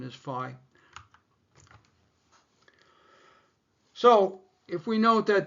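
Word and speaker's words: phi: I realize the correct pronunciation is fi.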